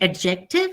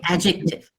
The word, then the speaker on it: adjective: you don't really say it's just a very quiet D so you don't say adjective you say adjective you know see the